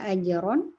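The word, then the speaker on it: أجرا: Kalau huruf ro, ajron. Iya, betul. Ketika dia tanwin fathah juga ajron aziman misalnya ya, ajron ron tetap tebal juga.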